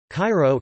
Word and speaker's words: Cairo: Cairo, K-Y-Ro, Arabic, Al-Qart Al-Kahira, pronounced Al-Q-Haya, pronunciation, Coptic, Kasharomi, is the capital of Egypt.